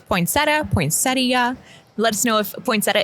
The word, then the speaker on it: poinsettia: Do you say poinsetta or poinsettia? Both are correct. Both pronunciations are considered correct. Apparently the correct way of saying it is poinsettia.